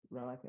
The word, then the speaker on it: Rolake: It's Relica.